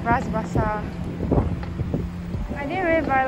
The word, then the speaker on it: Bras Basah: How do you pronounce it? Bras Basah. Bras Basah.